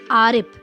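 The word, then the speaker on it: आरिफ़: बच्चों, यहाँ पर जो सलमा ने लिखा है हम वही पढ़ रहे हैं, लेकिन उसके बाद जब हम इसको नुक्ता लगाकर पढ़ेंगे तो इसका जो उच्चारण होगा वो थोड़ा सा अलग हो जाएगा।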